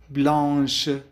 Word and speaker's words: blanche: سي أضفنا عليها آش وبالتالي صارت تلفظ blanche.